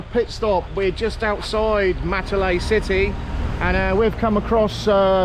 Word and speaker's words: Matale: Matale. Border. Division border. There you go. This is the border. Division, district boundary and division boundary. There we go. Okay, we're on a pit stop. We're just outside Matale City, and we've come across Spice Garden.